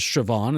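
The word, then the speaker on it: Siobhan: this movie krie Condon her name is sioban is how it's pronounced in the movie but what I'm looking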